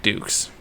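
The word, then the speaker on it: Dux: It's about a man named Frank Dukes. And I want to say Dukes is spelled D-U-X.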